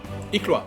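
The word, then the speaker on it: iklwa: How is that pronounced? Iqua? Iklua. Yeah, it's Iklua.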